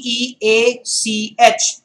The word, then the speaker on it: beach: long vowels and the short vowels okay b b-e-a-c-h is beach b-i-t-c-h is beach very important slip